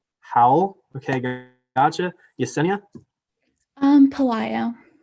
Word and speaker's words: Howell: off with Ryland oh my last name's how Howell okay gotcha Yesenia um poo poo okay gotcha